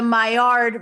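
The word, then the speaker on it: Maillard: the entire Zoom um the myard method that's how you call like that's how pronounced and it's spelled like malard like the duck so I just called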